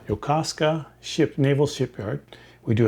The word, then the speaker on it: Yokosuka: please don't hold it against me but um yokosuka yokosuka yokosuka ship naval shipyard we do have some here